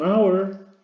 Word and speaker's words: hour: ¿Qué ocurre con esta H? Pues una consonante, ¿de acuerdo? Es una consonante, pero es muda, entonces no se pronuncia.